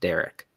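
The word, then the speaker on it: Dariq: came on and said it's d-a-r-i-q but it is pronounced Derek and he said that publicly and that lasted for like one day and now he's been back to darik nationally so I need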